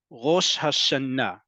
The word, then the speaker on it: Rosh Hashanah: about this before that the default emphasis in Hebrew is on the last syllable the last syllable so that's why it's Rosh Hashanah okay simply means head